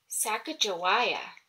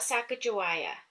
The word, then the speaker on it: Sacagawea: has a fancy name Sacagawea you say it like this sack uh JA why ah later miss glass has